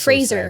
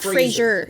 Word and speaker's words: Fraser: no no wonder he's fraser right now frasier it's not frasier it's phrasing fraser well there's no yeah speech yeah he said that that's how he pronounces his name and that frasier is wrong oh they're not free